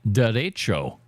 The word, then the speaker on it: derecho: The unusually powerful winds that hit Gary came down as a derecho. That's a Spanish word, so I'm pronouncing it like a Spanish word.